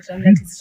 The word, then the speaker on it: Ramlat: And I was told the Nubian way of pronouncing Ramlat is Ramlati.